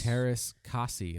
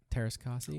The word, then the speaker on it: Teräs Käsi: Teräs Käsi, that's how it's pronounced, right? Teräs Käsi.